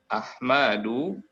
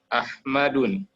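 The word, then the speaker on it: أحمدُ: Seperti Ahmadu tidak bisa dibaca Ahmadun.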